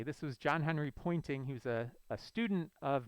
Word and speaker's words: Poynting: so it's convenient that it's called the pointing vector because it points in the direction that the wave is propagating but it's spelled a little differently this was john henry poynting he was a student